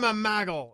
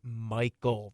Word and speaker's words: Michael: His name is pronounced Michael. There aren't G's in it.